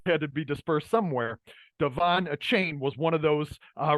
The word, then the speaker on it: De'Von Achane: to get into uh Devon a chain I believe is how you pronounce the name Devon a chain number 28 running back